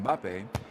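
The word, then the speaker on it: Mbappé: French footballer kylian mbappe they often find themselves inserting a third syllable to make it more pronounceable it's because in English starting a word with an m and a b next to each other is just not done so people find themselves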